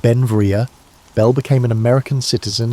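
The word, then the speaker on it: Beinn Bhreagh: Pronounced Benvia, Bel became an American citizen in 1882, but his name meaning beautiful mountain in Scottish Gaelic showed his Scottish heritage.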